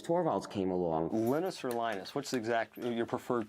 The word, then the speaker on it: Linus: came along linus or linus what's exactly your preferred pronunciation um when i speak swedish it's venus when i speak finnish it's linos when i speak english it's linus and i really don't